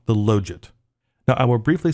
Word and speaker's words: logit: Now, I will briefly say something about the pronunciation of that word, Logit. I've heard other people say Logit, and really, I don't care. But I think the proper way is to say Logit, but I'll probably slip and say Logit. So just know that Logit is technically the correct way to say it.